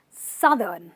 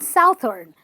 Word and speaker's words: southern: southern part so the the pronunciation is southern not southern this word is south but this entire word is southern you stress the sun then you go southern we've got a very